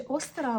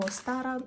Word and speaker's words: Остара: Давайте спробуємо До речі остара або остара наголос може бути і так і так тому що різні люди вимовляють його по-різному але сама сутність свята